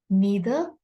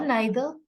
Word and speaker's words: neither: When a sentence has or, neither, either, by the way, these words can be pronounced as neither or neither, either or either. Both pronunciations are absolutely right.